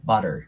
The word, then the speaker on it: butter: butter になりますでこのねバタに関しては T の部分をラーっぽく発音すると綺麗に聞こえますでちょっと下を引くイメージにしてあげると lar ていうねこの R の音も入るので B でその後